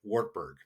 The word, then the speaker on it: Wartburg: Even though we'll be going to the Wartburg, we would say it in English Wartburg, but it's a very kind of a long U sound on there.